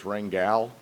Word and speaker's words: Rangel: And just so everybody knows, it's Rangel is how you actually pronounce it.